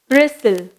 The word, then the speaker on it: bristle: டி வந்து சைலண்டாக யூஸ் பண்ணியிருக்காங்க, பி ஆர் ஐ எஸ் டி எல் இ பிரிஸ்டில்.